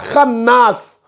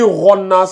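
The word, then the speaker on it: الخناس: Mais pourquoi tu me lis Ronnas alors? Non, tu disais pas kha. Tu disais pas kha. Tu disais ro. C'est ça, j'ai dit, it is not ro. C'est kha.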